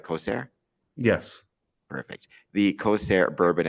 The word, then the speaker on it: Kosair: I'm pronouncing that correctly, right? Kosair?